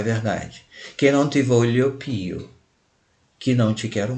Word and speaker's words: voglio: E observando aqui o GL antes do I, isso equivale ao nosso LH em português, voglio.